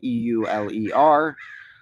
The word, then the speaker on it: Euler: whatever I greatly admire Euler who is also probably the greatest mathematician of all time e-u-l-e-r but pronounced more like Euler um and he was